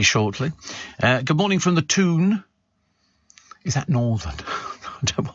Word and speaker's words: Toon: The main reason for Newcastle being referred to as the Toon comes down to the Geordie pronunciation, and it is pronunciation, not pronunciation, by the way. Town.